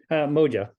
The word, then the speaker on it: Moja: Is it Moja or Moha? Moja. I mean, I think you can pronounce it, but it's Moja.